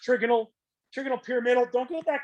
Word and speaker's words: trigonal: was going to uh trip people up it's pronounced trigonal trigonal pyramidal don't get that confused with this